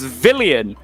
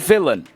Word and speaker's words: Villian: next pick 39 and it's villian not villain you've got to make sure you get that right you might have some